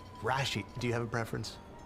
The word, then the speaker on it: Rashid: I emphasize the first syllable, Rashid. Rashid, do you have a preference?